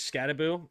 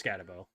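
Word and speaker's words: Skattebo: The pronunciation is Scataboo. It's Scataboo.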